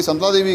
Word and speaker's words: संतला देवी: माँ भगवती का नाम है संतुला देवी। अब हम धीरे धीरे प्रोनाउंस करते हुए इस चीज़ को लेके आगे संतला देवी।